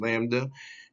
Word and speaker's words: Lambda: this figure the product of the cosmological constant pronounced Lambda and the metric tensor here and the stress